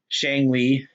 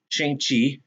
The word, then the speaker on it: Shang-Chi: I did purchase uh, Shang-Li or Shang-Chi, excuse me, Shang-Chi, Shang-Chi. That's I think that's how you pronounce it actually.